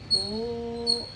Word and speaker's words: ಓಂ: ಮತ್ತೆ ಉಸಿರನ್ನ ಹೊರಗೆ ಹಾಕ್ತಾ ಓಂ ಹೀಗೆ ಬಾಯಿ ಆಕಾರ ನೋಡಕೊಳ್ಳಿ ಓಂ ಓಂ ಮಕಾರ ಉಚ್ಚಾರಣೆ ಮಾಡಿದಾಗ ತುಟಿಗಳು ಜಾಯಿನ್ ಆಗುತ್ತೆ ಅದಕ್ಕ ಮುಂಚೆ ಓಂ ಈ ಶೇಪ್ ಅಲ್ಲಿ ಮಕಾರ 60% ಉಚ್ಚಾರಣೆ ಮಾಡಬೇಕು 20% ಅಕಾರ 20% ಉಕಾರ ಆ ರೀತಿ ಒಂದು ಏಳು